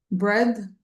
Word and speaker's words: bread: So bread is a is a is a word that is irregular. It has a has a short e sound but is spelled with ea.